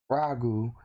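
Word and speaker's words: Raju: Now, we gotta go back a good bit, where a man named Ragu, I believe it's spelled R-A-J-U, so Ragu.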